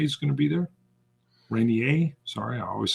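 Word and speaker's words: Reynier: until it's going to be green uh Mark Rene is going to be there Rainier sorry I always say it wrong Ponda Panda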